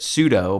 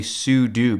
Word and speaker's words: sudo: some people pronounce it pseudo but I think the correct term is actually sudo because you're saying that you're like a super user and you want to